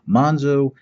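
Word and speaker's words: Monxo: Monzo, basically the Z has been turned into an X, but everybody pronounces it Monzo.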